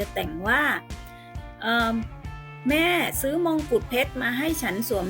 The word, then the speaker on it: มงกุฎ: คำ แรก นะ คะ อ่าน ว่า มงกุฏ นัก เรียน อ่าน ตาม เลย นะ คะ มอง กุด มงกุฏ ก็ หมาย ถึง เครื่อง